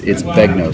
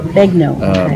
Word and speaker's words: Begnaud: It's Begnaud. So Begnaud. It's that French name spelling. The AUD is an O. Uh-huh. So Begnaud.